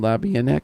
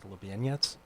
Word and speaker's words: Labianek: Labianek, did I say it right? You did. Okay, well, really? Nice job. Yeah. Labianek? That's it's the Polish way of saying it, Lubieniec.